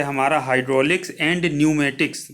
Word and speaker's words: pneumatics: of land रहता है आप देखिए पी लगा है तो पीछे शुरुआत में कितने न्यूमेटिक्स एंट्री हो रही है यानि कि है इसमें साइलेंट है इसकी उत्पत्ति भी हाइड्रोलिक